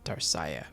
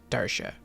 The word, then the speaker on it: Darcia: i don't know why i kept thinking it was pronounced darciah but darsha i believe that's how it's pronounced so that's his name